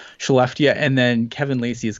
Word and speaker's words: Skellefteå: I believe it's Skellefteå, because the Swedish always do this thing with the K that makes it go into a sh for some reason. So I'm gonna say Skellefteå, and then Kevin Lacey